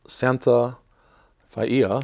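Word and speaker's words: Santha Faiia: This book is called Heaven's Mirror, Quest for the Lost Civilization by Graham Hancock and Santha Faia, I believe is the correct pronunciation.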